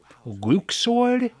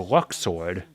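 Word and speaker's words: Luxord: did you pronounce that luke sword it's a it's a luck sword like luck he's a gambler such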